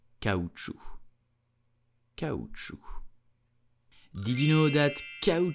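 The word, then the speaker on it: caoutchouc: will pronounce it so here the C at the end is totally silent so do not pronounce it and simply say cow true did you know that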